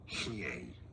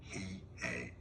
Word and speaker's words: Hiei: Hiei is how it's pronounced in Japanese. Hiei.